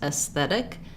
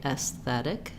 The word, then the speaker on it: aesthetic: Maybe thinking about it like I think just practicing moving the tongue forward to the T, aesthetic, or making a little break, aesthetic, because aesthetic is the stress syllable. So the TH needs to be there, but aesthetic, you can hear it won't sound the same at all, aesthetic. So maybe trying to think less vowel, aesthetic.